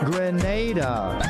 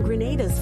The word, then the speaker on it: Grenada: Grenada.